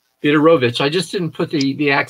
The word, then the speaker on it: Fedorowicz: uh of course the the w is pronounced as a v correct yes that's right that's right theodorovich i just didn't put